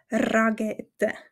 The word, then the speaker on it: Rakete: zu wissen ist dass wir das R Rollen wie du wahrscheinlich schon oft in meinen Videos gehört hast also die Rakete ist das Schweizerdeutsch ragete drakete ein bisschen stark betont